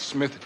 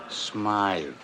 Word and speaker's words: Smythe: Hammer, I just got word that Smith Jewelers was held up again. That's Smythe.